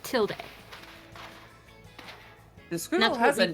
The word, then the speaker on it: tilde: wait what pronounce it tilde yeah you pronounce It in America not in Spanish in America in like in English in America we pronounce it tilde the screen that's what